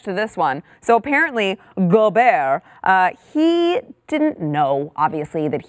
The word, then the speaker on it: Gobert: Jazz what's his name Rudy go go bear go bear that's how I I'm they're telling me that it's pronounced he is he really French yeah Rudy